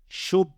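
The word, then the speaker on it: شُبَّاكٌ: So how do we pronounce this whole word? We would pronounce it as shubbakun. Shub. Remember, there are 2 bas here because of the shadda. So we need to make sure the first occurrence of the ba has a sukoon, shub.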